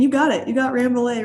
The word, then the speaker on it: Rambouillet: i can't pronounce that use a crossed with ramboulay and suffolk rams welcome to the show georgia thank you thanks for having me and you got it you got ramble a right there on the side all right um